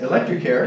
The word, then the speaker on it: Electrecare: Is that how you pronounce Electrecare, it? Electrecare, yes.